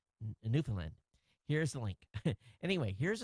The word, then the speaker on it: Newfoundland: John's, Newfoundland. That's how we pronounce it over here.